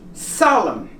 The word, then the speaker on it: solemn: have exceptions in here when the N has an M in the front like these words and other words we will not pronounce the letter n as in autumn it goes up to here autumn column you don't pronounce the end him and is out solemn okay did your understand